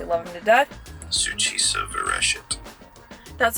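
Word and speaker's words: Succisa virescit: members cuz obviously I love them to death SU ofet that's how you pronounce it which it is Latin for that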